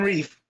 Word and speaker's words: Reeve: Titans animated series, which referred to Bill Reeve as Bill Rev, and I hated that with a passion. Yeah. Every time they said it, I wanted to punch the TV. Yeah, that one's weird. Yeah, that one's weird. But yeah. Because that's two E's in Reeve.